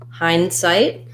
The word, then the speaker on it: hindsight: Hindsight is an example of a compound word where we have compound words typically have first syllable stress, and they also have some secondary stress on the second syllable, which means my hind is going to be a little bit longer than my sight, but my sight is still going to have a clear vowel.